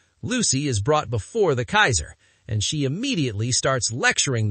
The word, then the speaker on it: Caesar: I believe Kaisers are German. First of all, shame on the writers. The original Latin pronunciation is Kaiser, not Caesar or Kaiser.